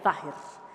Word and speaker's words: Zahir: En árabe, la voz sahir significa lo visible o manifiesto, se pronuncia zahir.